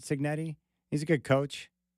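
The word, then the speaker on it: Cignetti: Coach Cigarette or Signetti, how does he pronounce it? Signetti.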